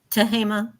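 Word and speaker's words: Tehama: tahama sorry how do you say it again tahima tahima County Ruth and Hobart Molton have been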